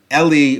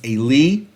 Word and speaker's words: Eli: Famously, at the beginning of the book of Samuel, the priest Eli, or Eli, however you like to pronounce it in the Hebrew, it's Eli.